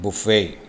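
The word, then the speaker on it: buffet: weഫല andഗ്മീറ്സ് at ദവെഡിങ് ബഫേ ഭക്ഷണവുമായി ബന്ധപ്പെട്ട അർത്ഥം വരുമ്പോൾ ഈ വാക്കി ഉച്ചാരണം ബുഫേ എന്നാണ് ബി യു ഡബിൾ എഫ്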